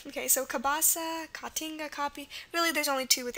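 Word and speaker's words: caapi: the a sounds really there's only two words in Portuguese with a a so two words that utilize a a a double A for the a sound and those two words are katinga katinga like that and copy c a a p i so with the exception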